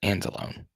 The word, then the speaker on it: Angelone: comments uh it's funny one of my buddies last name is angelone but he pronounces it and alone any stats on all